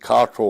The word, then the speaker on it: Cottrell: Cottrell. You can pronounce it Cottrell or Cottrell.